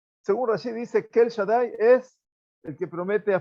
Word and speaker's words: Shaddai: la Perashá, Bekel Shaddai, con Dalet, con acento. La Dalet está acentuada, quiere decir que hay que pronunciar Shaddai. La Dalet es una Dalet fuerte.